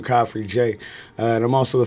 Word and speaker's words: Khafre: Khafre. Is that the way you say it? It's like coffee that's free. Khafre. Khafre. Yeah, yeah. Coffee. You don't pronounce really the R? No, it's in there.